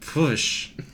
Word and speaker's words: Pwyll: which is spelled Pwyll, which is a Welsh name, which I believe is pronounced Pwsh.